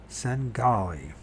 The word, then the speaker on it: Svengali: Svengali. Singali. Do Mariers Singali. Svengali. So the V is not pronounced in that. Sengali.